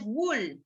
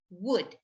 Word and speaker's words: would: would, could, and should has a silent letter. The silent letter is the L. No es wool, wool. No, would, no L. Could, no L.